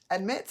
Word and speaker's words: admit: Okay, so now admit's a funny word because when you say it quickly, you might not hear the vowel sound.